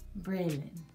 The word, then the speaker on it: Braylon: She was like, girl, that is not how you pronounce Braylon's name, baby. It's Briallen, not Briallen. Braylon, baby.